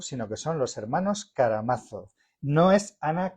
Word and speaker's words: Karamazov: Me explico, no son los hermanos Karamazov, sino que son los hermanos Karamazov.